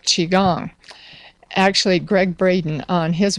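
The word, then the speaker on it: qigong: to spell that because I would never have pronounced it that way Chiang it's uh q i g o NG n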